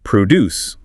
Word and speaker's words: produce: and vegetables, agricultural goods, stresses on pro. I buy fresh produce at the farmers market. But the verb produce means to create or manufacture something. Stress is on DCE.